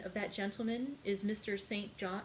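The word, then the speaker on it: St John: that gentleman is mr saint john or sinjin rivers i sinjin is like his kirsten name and his sisters are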